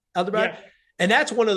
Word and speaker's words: Ahmedabad: Ahmedabad?